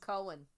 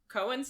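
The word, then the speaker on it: Koen: say his name um k o e n s I call him Cohen Cohen okay that's that's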